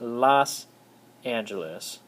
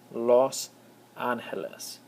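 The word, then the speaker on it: Los Ángeles: Angeles all right however it's not in Spanish it's not Los Angeles the O makes an o sound and so it's Los aneles the angels all right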